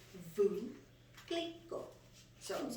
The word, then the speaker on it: Veuve Clicquot: And the Google says it's Veuve Clicquot. So I was like, oh, because nobody knew how to pronounce it.